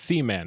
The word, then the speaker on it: Seaman: Yes, it's Seaman. It's spelled Seaman, like Sure.